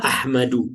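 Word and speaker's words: أحمدُ: Hadza Ahmadu. Nah, Ahmadu beda dengan Muhammadun, Umarun, Aliyun. Ahmadu itu dia tidak ditanwin ya.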